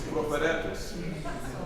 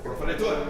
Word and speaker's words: proferetur: I'm adding an extra syllable. Liber Scriptus, Proferetus. Proferetur.